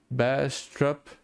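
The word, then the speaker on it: Baastrup: is called best stop disease I suppose I'm pronouncing it right it's Bastrop Bastrop disease I just wrote that in chat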